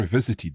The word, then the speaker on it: visited: The ed here is pronounced id.